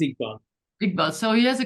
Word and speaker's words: Iqbal: the question from the photographer, how do you pronounce the name of the photographer? Iqbal? Yes, it's Iqbal.